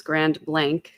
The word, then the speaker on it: Grand Blanc: way, that it's um, the way to pronounce the town name is Grand Blank. I was told that by a resident.